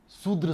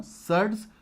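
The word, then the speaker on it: surds: एक को कहते हैं हम सर्ड्स, शूद्र से मत पढ़ना, सर्ड्स, और एक ट्रांसेंडेंटल।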